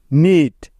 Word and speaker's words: knit: নিট, KNIT, নিট। নীল, KNEEL, নীল। এখানেও প্রতিটি উদাহরণে এন এর আগে কে আছে, তাই এগুলোতে কে সাইলেন্ট বা উজ্জ্ব আছে।